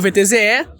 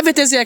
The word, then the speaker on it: VTZE: Bom, pra quem não conhece, esse é o VTZE. Claro, se você vive numa caverna, é VTZE que pronuncia, pra começar. Então, na verdade não, na verdade a pronúncia é VTZ. O E é mudo, entre aspas mudo, né, porque a origem